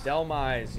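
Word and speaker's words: Dhelmise: Delmize, yep.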